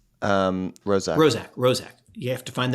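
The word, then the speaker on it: Roszak: Rozak.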